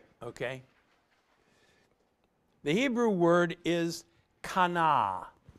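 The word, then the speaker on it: qana: bottom is it okay the Hebrew word is Kana q a and a to show passionate concern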